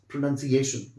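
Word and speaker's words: pronunciation: और उसके बाद मैं चाहता हूं कि आप इसको अच्छे से प्रोनाउंस करें, इट्स प्रोनाउंसिएशन।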